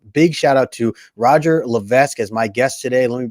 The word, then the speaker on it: Levesque: Levesque? It's a silent S. Oh, Levesque.